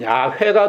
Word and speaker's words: 야훼: 그걸 이제 히브리식으로 발음을 하면 야훼가 되는데 그걸 영어로 하면 job하고 그걸 한국말로 바꾼 게 여호와단 말이에요.